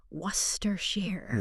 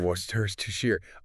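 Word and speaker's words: Worcestershire: But even natal speakers, we just say worershir. Worstershir.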